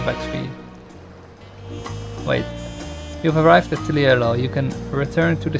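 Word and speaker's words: Tuliyollal: We're not used to the ways of I the bid you people of welcome to Tuliolal. Tuliolal. They also pronounce it with a bit of an H. Tuliolal, more like that.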